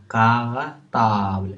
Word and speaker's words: cartable: Un cartable. Est-ce que vous entendez K? Oui, on entend K. Mais est-ce qu'il s'écrit euh, comme kilo? Non, elle s'écrit C.